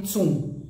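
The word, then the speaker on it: cun: cultura então primeiro que o nome da medida é chamado de tsum que se escreve c n tá c mas se lê tsum então um tsum é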